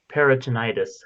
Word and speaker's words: peritonitis: 20th century and died of period peritoneus peritone peritonitis thank you I'm like I know how to